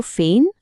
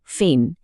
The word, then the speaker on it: feign: শব্দটা হলো ফেন। উচ্চারণটা খেয়াল করুন ফেন।